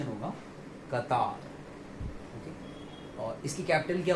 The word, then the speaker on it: Qatar: इसका सही प्रोनाउंसिएशन होगा कतार. क्या होगा? कतार. अक्सर लोग इसको गलत प्रोनाउंस करते हैं और वो इसको प्रोनाउंस करते हैं कतर. क्या प्रोनाउंस करते हैं वो? कतर.